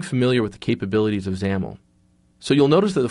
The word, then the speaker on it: XAML: not look like it at first that's actually pronounced xaml the xaml stands for extensible application markup language